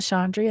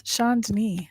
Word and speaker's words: Chandni: It's not Chandri, it's Chandni.